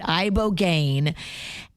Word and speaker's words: ibogaine: Tell me about this ibogaine. Ibogaine? Is that how you pronounce it?